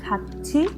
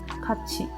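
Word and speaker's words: 같이: For example, if you have words which is together, which is written as kati, the pronunciation is kachi.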